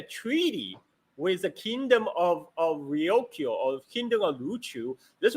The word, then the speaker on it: Ryukyu: This shows that Luchu Kingdom, or Kingdom of Ryukyu, if you use a Japanese pronunciation, was an independent sovereign nation at that time.